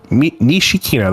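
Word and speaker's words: 西木野: Nishikino. That's how you pronounce her name.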